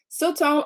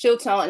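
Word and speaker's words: שלטון: The realm of power I have been assigned is pronounced as Siltone or Siltone. Yes, Siltone.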